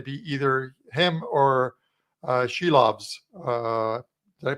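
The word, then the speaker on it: Silovs: So it's going to be either him or uh Sheilobs. Uh did I pronounce that right? She loves. Yeah, she loves.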